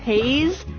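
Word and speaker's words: Hayes: My last name is pronounced Haze. Like it was a dark and hazy night.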